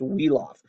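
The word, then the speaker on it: Wiglaf: 36 starts this guy's name is wheel off WI GLA f pronounced wheel off wheel off was he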